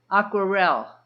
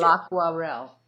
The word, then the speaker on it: Aquarelle: Marie, how would you pronounce that? Aquarelle. Thank you. L'Aquarelle.